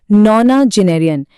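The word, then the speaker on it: nonagenarian: इसके बाद आता है नोना जेनेरियन। इसे हम बोलेंगे नौना जेनेरियन।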